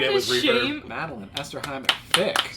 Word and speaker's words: Esterhammer-Fic: Madeline Esterhammer-Fic. Esterhammer-Fic. I want the shame in here. Marty, we went over this in the car. I thought I said it right. You know, I feel like it's only Esterhammer-Fic.